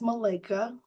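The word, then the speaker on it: Malika: again my name is Malica uh if you think of a beautiful body of water a lake that will help you remember how to pronounce my name I take my name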